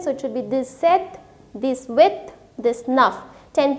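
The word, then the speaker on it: sept: this is scat through this is sank sis seth so here you do not have to say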